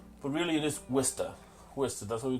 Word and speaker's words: Worcester: People say Worcester, Worcester, but really it is Worcester.